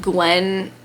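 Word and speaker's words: Gwenllian: Her name's like Gwen. It looks like it's spelled Gwen, but then Blue says like and the double L's were not pronounced at all how they looked.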